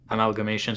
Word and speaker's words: AmAIgamations: says that Amalgamations was wrote in 2008.